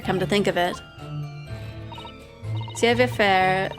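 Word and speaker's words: savoir-faire: Savoir faire, meaning know how to do, pronounced more like savoir faire.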